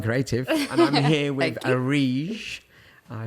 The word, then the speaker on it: Areej: So how do you pronounce it again? Areej. Areej. So welcome to the next episode of The Promising Creative, and I'm here with Areej.